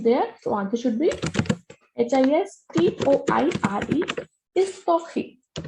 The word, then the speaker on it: histoire: So answer should be HISTOIRE, history. Whenever H is at the beginning of any word, it is muted. We don't pronounce this H.